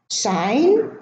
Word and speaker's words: sign: assign, benign, design, resign, sign, foreign. Now the G in all of those words is silent. We do not pronounce it. But you notice that the G is preceded by an I and is pronounced